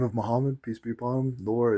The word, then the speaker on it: Muhammad: The name of Muhammad, peace be upon him, Nur is celestial light. That's what his last name means. And also Muhammad Ankalaev, that's his name. It's not Magomed, it's Muhammad, G is H.